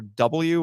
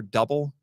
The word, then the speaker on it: Kamen Rider W: Z and I have Kamen Rider W or double whichever pronunciation you prefer so we've hinted at